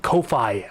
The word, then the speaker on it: Ko-fi: This is Ko-Fi. I believe it might be pronounced coffee though, but some pronounce it Ko-Fi.